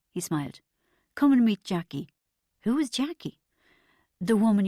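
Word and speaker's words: Chaquie: I'm Jackie, she smiled. She was about 45, but from a couple of feet away, she could have passed for at least 10 years younger. And that's spelled C H A Q U I E, she added.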